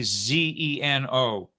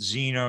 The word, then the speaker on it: Zeno: you may sometimes hear me say Zeno, okay, Z-E-N-O. If you're in the U.S., if we're in the U.S., of course we pronounce it Zeno usually.